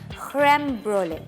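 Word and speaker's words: crème brûlée: अब French people ना, उनके बोलने की थोड़ी सी टोन और वो थोड़ी सी डिफरेंट होती है। सो दे से इट क्रेम ब्रोले, सही है।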